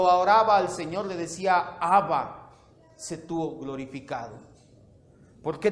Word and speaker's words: Abba: La palabra Abba viene del arameo y llegó hasta nuestros días, se pronuncia entre los hebreos Abba en el español.